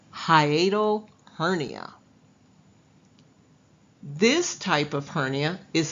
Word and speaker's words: hiatal hernia: It's pronounced hiatal hernia.